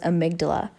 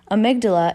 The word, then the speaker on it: amygdala: like that is incorrect the correct way to pronounce that word was amygdala amygdala is the region of